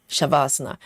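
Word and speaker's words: savasana: It's spells um without h. is s a v a s a n a shavasana but it's Sanskrit you know um the ancient in um Indian term so in yoga if you've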